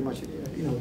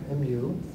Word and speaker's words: mu: Again, I'm using the Greek letter mu here, mu, which is pronounced me in Greek, by the way, but it's like an M sound, and it's like a U sound, this sort of mixture.